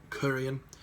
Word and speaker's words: Korean: Korean is almost like saying Korean, but you stretch that first part out. Korean.